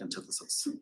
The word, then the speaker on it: antithesis: No, it's pronounced antithesis.